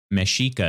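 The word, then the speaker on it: Mexica: uh aztec right okay mashika meshika is how they pronounce it okay all right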